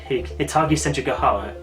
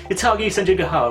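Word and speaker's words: Hitagi Senjougahara: And the very first one involves him encountering Hitagi Senjuga. Yeah, I'm pronouncing that right. Hitagi Senjuga.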